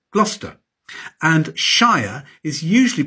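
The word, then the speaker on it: Gloucester: There are no absolute rules in English place names, but cester is usually shortened to stir, bister, glouester.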